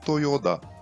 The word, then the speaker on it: Toyoda: A letra Ta, com esse sinal, fica com som de Da, por isso se lê Toyoda.